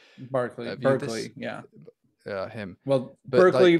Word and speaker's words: Berkeley: Well, but Berkeley, like, Berkeley, California is named after him, so I think it's Berkeley, but you Brits might pronounce it Berkeley, I don't know. It might be I thought it was Bishop Berkeley, to be honest with you, but I don't know if it's Berkeley or Barclay.